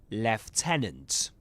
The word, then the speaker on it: lieutenant: Alright, so, in British English, you will say lieutenant. Lieutenant. That's the pronunciation. Lieutenant. Right? Lieutenant. But in American English, it's lieutenant.